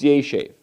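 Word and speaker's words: יֵשֵׁב: So normally it's yeshev, or yeshev, accent on the ultima, the final syllable.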